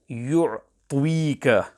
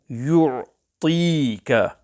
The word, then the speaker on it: يُعْطِيكَ: When reciting the word yu'tika, care must be taken to ensure that the pronunciation of ta is pure. Some pupils here add a waw sound to the letter ta and recite yu'tika. This is incorrect. The correct pronunciation is yu'tika.